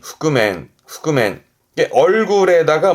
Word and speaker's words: 覆面: 발음은 흑그맨. 후그맨 이게 얼굴에다가 뭘 뒤집어 쓰는 그 복면이 후구맨 후그맨이 한자입니다.